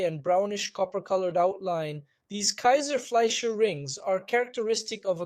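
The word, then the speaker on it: Kayser-Fleischer: I'll use the German term Kaiser-Fleischer rings. It's spelled Kaiser, like the beer we know, and Fleischer.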